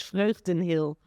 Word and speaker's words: Vreugd: It's Fen Hill. I I tried to pronounce that, I couldn't.